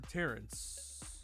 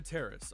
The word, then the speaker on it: Terrace: if it's a Dana Terrace animation or not or Terrence. I could be getting her name wrong. Dana Terrace. I got it.